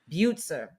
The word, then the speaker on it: Butzer: Butzer. Like Buford. Butzer? Yeah. But we call him Boots. So it's very I'm very glad that it's not Butzer, which is what I always thought it was.